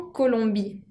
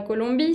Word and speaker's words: Colombie: J'habite en Colombie. J'habite en Colombie. Vivo en Colombia. La Colombie, c'est un pays féminin parce qu'elle termine par un E, aunque no se pronuncia.